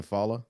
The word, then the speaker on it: Fallah: and everything this is a fala is that how you say your last name follow yeah we hate pronouncing people's